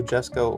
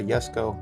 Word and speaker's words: Jesko: I'm not sure how to pronounce it. I think I've heard it pronounced both ways, but I mean the J is there, so I'm going to go ahead and call it a Jesko.